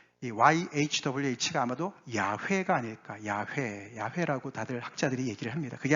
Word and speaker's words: 야훼: 야훼 명령과 직결되는 것이었습니다 제가 왜 여호와를 야훼라고 표현을 할까 제가 이제 출애굽기 말씀할 때는 잘 설명을 드렸는데 그 여호와라는 그 단어가 사실은 합성어예요 그게 히브리 자음으로 yhwh